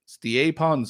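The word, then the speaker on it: Stjepan: So apparently that's how you say his first name is Stiepon. Right. His last name, though, how do you think it's pronounced?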